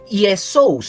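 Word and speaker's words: Ἰησοῦς: Voy a hacerlo así para que lo veamos como una presentación del griego viene como Yesous. Así se escribe en el griego, Jesús proviene de del griego es el nombre que significa Jehová salva.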